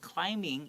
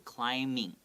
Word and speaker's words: climbing: in the park not climbing even though it has a b this b is silent so please don't pronounce climbing okay so climbing okay okay it takes